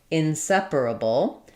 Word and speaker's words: inseparable: Um, this one is probably difficult for you just because it has a lot of syllables and sounds and then knowing where the stress should go and perhaps using the R and the L together in the same word. Uh, inseparable is stressed on the se syllable.